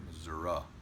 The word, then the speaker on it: Missouri: to go down here Missouri Missouri uh not so long when the esses I'm doing that to show you how to say it Satan is zero zero